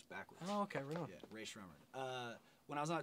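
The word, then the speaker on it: Rae Sremmurd: Ray Schremmer. I always thought it was Ray Strumming. No, does everybody say that? It's Ear Drummers backwards.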